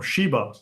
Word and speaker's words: Sheba: Now he says here, for instance, down below, that in Arabic this is Sabah, right? Because the sh in the Jewish pronunciation becomes s in the Arabic pronunciation.